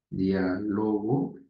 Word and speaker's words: diálogo: ejemplo tengo el término diálogo tengo de repente diálogo y tengo también diálogo saben qué sucede son